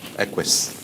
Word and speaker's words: Aquis: How are we pronouncing it? Aquis.